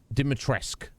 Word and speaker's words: Dimitrescu: Online it says it's pronounced Dimitrescu.